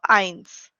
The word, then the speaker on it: eins: that is called as eins. Eins. Just now we have done EI sounds as I. So eins.